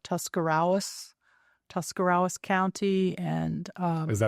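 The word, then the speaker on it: Tuscarawas: I was from in Ohio and I would mispronounce words like Tuscarawis, Tuscarawis County. And um is that the correct pronunciation or how would you That is the correct pronunciation. So I would Tascaras and Gennad Hutton and uh just like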